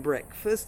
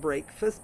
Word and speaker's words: breakfast: And these have a short e pronunciation, such as breakfast. So the break in breakfast is not breakfast, but breakfast, the morning meal.